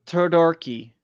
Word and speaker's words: Todoroki: Dazuku Todoroki. I apologize if I butchered your name.